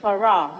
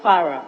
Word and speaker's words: Farrar: The street name for question 208, V, is Farrar, not Farrar. F-A-R-R-A-R, not F-A-R-A. You said page what? Page 9, Mr. Speaker. Page question, 9. Yes, number 208. Yes. Roman numeral V. It's Farrar Avenue, F-A-R-R-A-R, not as it's spelled.